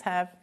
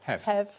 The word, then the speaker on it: Hev: So, thanks He. Thanks, He. Sorry for getting your name wrong. I misheard it. Sorry. No, it's Hev. Short for Heather.